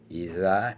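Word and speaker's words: إذا: Yang pertama idza. Dza itu ee cara membacanya ujung lidah dan ee di balik gigi. Nah, idza. Idza juga ujung gigi juga bisa.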